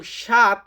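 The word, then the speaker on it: sette: তো ছয় কে আমরা বলি সেই এবং সাত এটাকে আমরা ইতালিতে বলি সেতে। সেতে মানে হচ্ছে সাত।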